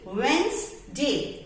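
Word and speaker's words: Wednesday: तो next time you have to be very careful कि इसमें क्या क्या साइलेंट आ रहा है और ज की साउंड आ रही है जो कि इसमें है ही नहीं.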